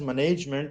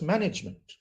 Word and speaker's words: management: word is pronounced as management management if you are putting stress on the first part the rest of the things can be managed uh very easily I'm